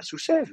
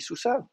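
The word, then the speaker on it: סוּסָיו: qui dit, mais nous, on dit pas sous-sève, nous, on dit sous-save. On dit pas alève, on dit alave.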